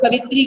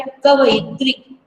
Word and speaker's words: कवयित्री: और जो आप लोग कवित्री कह देते हैं, प्रोनाउंसिएशन और लिखना क्या है, कवयित्री। कव, यह पे छोटी की मात्रा है, ये त्री, तो कवि और कवयित्री।